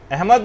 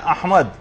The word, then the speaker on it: احمد: یعنی صحیح تلفظ ہے، الف پر زبر ہے، ہا جو ہے وہ ساکن ہے، میم کے اوپر زبر ہے، اور دال جو ہے وہ ساکن، احمد.